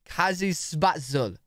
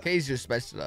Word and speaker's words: Käsespätzle: I want to try to pronounce it before. Kazispatzl.